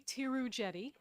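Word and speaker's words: Theroux-Jette: her right chairman pearson my name is tirujeti i know it doesn't look like that t-h-e-r-o-u-x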